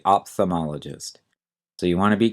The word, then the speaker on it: ophthalmologist: First of all, notice that the spelling on this is a little tricky. There's a silent H after the P, OPH, and there's also an L that we often do not say, OPHTHALM. Usually we'll say ophthalmologist. You won't hear the L, ophthalmologist.